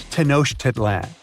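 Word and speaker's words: Tenochtitlan: It's tenoshedan. And Mayan cities are hard to pronounce too.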